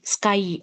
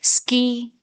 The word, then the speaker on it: sky: Why can't we say ski? Because it is wrong. The pronunciation is wrong. So you must pronounce it as sky only. Sky. I. As I've written here, Y, you can't say it as ski.